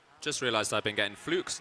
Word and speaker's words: Fluke: Just realized I've been getting Fluke's name wrong.